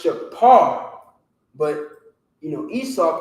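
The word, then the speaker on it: שופר: i said you know with the f there's no f sound in hebrew if you read the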